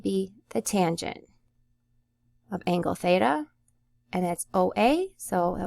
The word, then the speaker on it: theta: theta theta it's a Greek letter and it's pronounced like that so it's theta all right so then we have cosine of